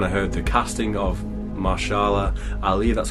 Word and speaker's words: Mahershala: and obviously when I heard the casting of mashallah I leave that's how you pronounce his name I just knew it's gonna